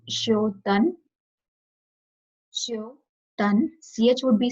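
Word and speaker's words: श्च्योतन्: So first one, in this like C will the CH would be silent. So it would be Shotan.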